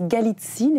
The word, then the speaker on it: Galitzine: Bonjour Sophie Galitzine. Bonjour Guyane. Je prononce Galitzine, est-ce que c'est comme ça qu'il faut le prononcer?